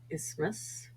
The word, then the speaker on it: isthmus: example listen Castle fasten th is silent once in a while for example asthma or isthmus W is sometimes silent